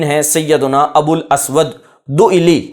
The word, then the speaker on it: دؤلی: سیدنا ابو الاسود دؤلی۔ اس کا تلفظ سن لیجئے، دؤلی، یہ حمزہ ہے اور اس کے بعد لام ہے، دؤلی، یعنی اس کو کوئی کاف نہ پڑھ دے، یہ دوئکی نہیں ہے لکھا ہوا، دؤلی۔ مشہور نحات، اس علم